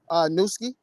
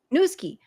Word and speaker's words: Newski: Guys, please do follow him on Instagram at Newski. Am I saying it right? Nuskie? Yes, Is it yes. Newski or Nusky? Newski. Newski. Yeah.